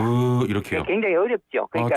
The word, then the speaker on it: ㅱ: 그런데 그거를 조금 더 가볍게 입술을 약간 이렇게 무 이렇게 하시면 됩니다. 무 이렇게요.